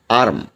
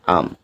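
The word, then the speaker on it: arm: জরুরি যেমন আছে কি আর্ম এখানে উচ্চারণটা সঠিক উচ্চারণ হবে হলো আম কারণ আমরা জানি যে আর এর পর যদি কনসোনেন্ট থাকে তাহলে সেখানে আর টা সাইলেন্ট হয়ে যায় ব্রিটিশ অ্যাকশেন্ট অনুযায়ী সো এখানে আমরা আম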